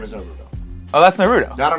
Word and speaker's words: Naruto: part you put the emphasis on the first syllable so like a lot of people for instance uh like you would say Naruto because in English we can cut from Latin